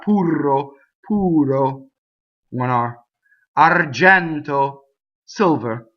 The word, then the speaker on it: argento: Argento, silver, right? Open E in the middle. Notice the N. Argento, closed O.